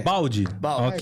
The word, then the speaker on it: Baldi: uruguaio né o Fernando Baldi pronunciei correto se seu nome é Baldi é balde é igual o balde de água mesmo então isso balde